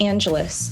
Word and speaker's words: Angelis: No, it's actually Greek. And it used to be Angelides, but they changed it in Ellis Island. But it's just Angelis, like Los Angeles.